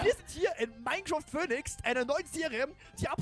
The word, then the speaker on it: Phoenix: Das PH wird wie ein F ausgesprochen, OE wird wie ein Ö ausgesprochen und nix wie nix.